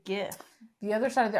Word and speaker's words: GIF: something or other so the word that it comes from is a g sound but I know the other side of the argument too I've never heard it say GIF the other side of